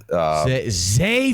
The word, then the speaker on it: Zay: We're going Trey Flowers next. Zay fucking Flowers. You say his name correctly, okay?